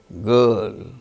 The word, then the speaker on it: girl: case of certain, garden, girl, GIRL, girl. R is followed by L, a consonant sound. There R is not pronounced.